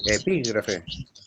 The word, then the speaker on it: epígrafe: No te olvides del tilde en la I, el acento en la I. Epígrafe. Epígrafe. Epígrafe, eso es. Es una palabra esdrújula.